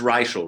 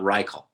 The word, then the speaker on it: Reichl: with royalty ruth reichel it is racial right it's not richal it's racial racial because someone would say rykel i said i don't